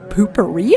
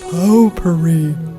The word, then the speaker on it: potpourri: Maybe that lady had some poopery in there. Potpourri. Old ladies usually have that stuff all over the place. Potpourri. It's pronounced potpourri.